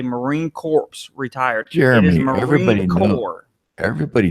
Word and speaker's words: Marine Corps: selecting the side of the head go it's Marine Corps Jeremy not well he knows he's headed to